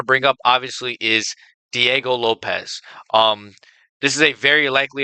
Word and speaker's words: Lopes: With that being said, Diego Lopes has a very high chance. Why did I say his name? Lopez. Lopez. Lopez? Well, it is Lopes.